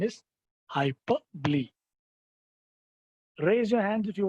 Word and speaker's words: hyperbole: Many people pronounce it as a hyperbole, but the correct pronunciation is hyperbole.